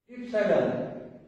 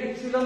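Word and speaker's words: epsilon: এই অক্ষরের নাম হলো ইপসাইলন, ই পি এস আই এল ও এন। অনেকে এটাকে ইপসিলন বলে, অনেকে ইপসাইলন বলে, এস আই এর উচ্চারণ অনেকে সি বলে, অনেকে সাই বলে।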